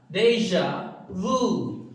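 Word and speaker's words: déjà vu: Next जो word है बड़ा इंटरेस्टिंग है स्टूडेंट, ये है डेजा, डेजा वू, डेजा वू। तो आप देख रहे हो इसका प्रोनाउंसिएशन किस लैंग्वेज से लिया गया है, फ्रेंच।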